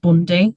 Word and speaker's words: Bounde: It's spelt Bounde, but pronounced Bundy. So it's spelt like bound with an E. Call him Boundy then.